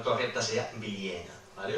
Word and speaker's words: Bilyäna: Esa A larga en contextos internos de vocal larga, de alargamiento, tiende a hacerse E, ¿vale? Por lo tanto, la pronunciación correcta sería Viliena, ¿vale?